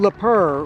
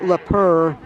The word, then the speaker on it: Leur: think that Yeah, it's Juan Leur. One le slow getting up for the Falcons. And I want to thank uh thank the Falcons for helping me pronounce his name. L E P R. It's like a a f French pronunciation. Juan Leur.